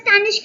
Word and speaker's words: Stanish: can do it yeah I'm pronouncing your name as Stanish right yeah perfect okay um so we